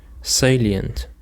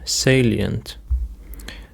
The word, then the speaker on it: salient: Now for the next word, we have salient. Salient. The stress is on the first syllable. Salient.